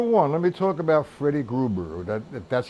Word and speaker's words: Freddie Gruber: Number one, let me talk about Freddie Gruber, that's how you pronounce his name.